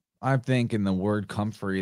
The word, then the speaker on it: comfrey: So I think in the word comfrey, there's a lot of interesting phonetics with fray, because we're saying free, they were pronouncing it like free, but it's spelled fray.